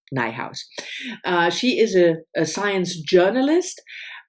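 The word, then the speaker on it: Nijhuis: nighthouse a beloved Beast this is a Dutch originally Dutch name which I in that would pronounce Nay house but her website and her Instagram page they all are called rhymes with my house so it's Michelle nighthouse he is a science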